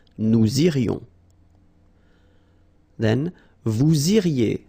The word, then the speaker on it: vous iriez: Then, vous iriez. So same thing here, make the liaison. Vous iriez. Remember, when you get this EZ at the end, you get the sound E.